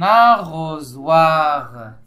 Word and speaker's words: arrosoir: C'est un arrosoir. C'est un arrosoir. Arrosoir. Arrosoir. Arrosoir. Arrosoir. C'est la troisième syllabe qui contient le son Z. S se trouve entre deux voyelles et il se prononce Z.